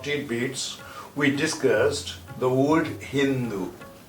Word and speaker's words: Hind: And those people used Sindhu as Hindu and Sindh as Hind. In Persian language, they spelled like this: He, Noon, Dal.